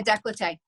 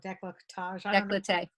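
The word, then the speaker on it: décolletage: the um neck and chest area possibly yeah decollete yeah right in here i pronounce that wrong decolletage okay so our special little area for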